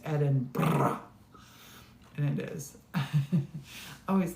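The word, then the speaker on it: Edinburgh: When I first met Morton, I'm like, I was to Edinburg last year. And he's like, it's Edinburg.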